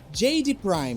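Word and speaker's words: Giedi Prime: o Beto aqui então a pronúncia é JD Prime não é isso isso JD Prime que é um planeta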